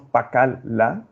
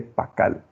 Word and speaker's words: pacal: En cierta medida ese silabograma la no suena, no decimos pacal la, pronunciamos únicamente pacal.